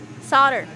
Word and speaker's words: solder: inch of cable and solder on the new connector wait a second you you pronounce solder with an l in it solder for all the trolling